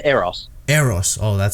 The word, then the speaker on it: Eros: I say Eros.